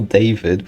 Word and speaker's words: Daewid: Kind of an interesting name, putting that E before the W, so it is still Daewid, but it's kind of pronounced the same way.